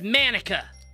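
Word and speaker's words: Monika: it's writing your name that's not how you say my name at all it's manika also that joke makes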